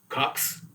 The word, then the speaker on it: KOX: So it was kind of like there was something they walk by KOX and then they pronounce it Cox.